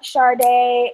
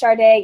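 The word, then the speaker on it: Sade: And then I'm also on Twitter, and that's Charday, and my name is spelled S-A-D-E. Please don't ask me why it's pronounced Charday, even though it's no H and no R.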